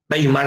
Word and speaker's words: Weimar: se conoce como la constitución de weimar con w constitución de ueimar weimar en la pronunciación correcta se proclama por primera